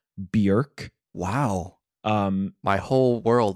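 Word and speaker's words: Björk: rally behind me in saying that it's not pronounced Bor oh really it's pronounced BK wow um my whole world has been turned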